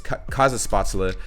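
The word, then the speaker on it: Kaiserschmarrn: is kaiza spots Allah now I finally know how to say this name it's cause of spots Allah and uh yeah it's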